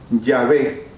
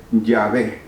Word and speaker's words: Yahvé: Se sabe que la pronunciación es Yahvé, porque aunque no tenga vocales, las consonantes hay que hacerlas sonar en una palabra. Y la palabra se dice Yahvé.